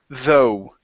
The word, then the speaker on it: though: okay this word here the GH at the end of the word is not pronounced this word is though zo okay give me